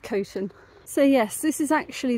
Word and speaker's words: Coton: I know it looks like cotton, but it's actually pronounced Coton.